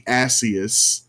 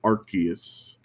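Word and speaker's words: Arceus: The localization team is British and in in British speech ars is ass. So they didn't want it to be Asus. So the pronunciation is Archus.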